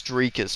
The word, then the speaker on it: Dricus: was pronouncing his name let me just make sure I'm pronouncing this properly drus it's drus okay my bad drus dupy